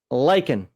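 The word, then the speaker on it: lien: on this Mariam Webster lyen we're not British so we don't say Lin although that says also so that means they pronounce it lyen as well so it is lyen and uh button for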